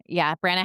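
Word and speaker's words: Brannagh: That's how graphic audio says Branna, so that's what I'm going with. Branna.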